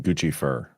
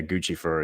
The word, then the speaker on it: Guccifer: Guccifer. Yeah, it's Well, it's Guifer is how you pronounce it, but yeah, Guccifer is like Lucifer, but not a demon.